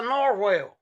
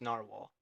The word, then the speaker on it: narwhal: claimed it protruding from his forehead that's a Norwell it's not they' just gotten out of place